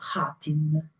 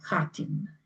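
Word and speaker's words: Khatyn: un piccolo villaggio chiamato Hatin, non Katyn, Hatin. Si scrive quasi uguale, è soltanto la prima lettera che è diversa e la pronuncia è leggermente diversa.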